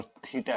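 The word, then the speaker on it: θ: कोण हो, तो इसको थीटा पढ़ते हैं भाई, ये ध्यान रहे, जो ये आया है इसको, ये ग्रीक लेटर है, इसको इसका जो उच्चारण होता है वो थीटा होता है।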